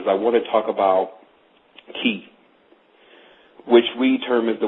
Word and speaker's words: chi: So today, what I really want to talk about is I want to talk about Ki, which we term as the word Chi, but the CH pronounces as a K.